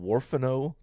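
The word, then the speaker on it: Huerfano: fact uh it is in a place called warano Colorado in the warano river valley that's spelled h u e r f a n o warano uh we were on a field research trip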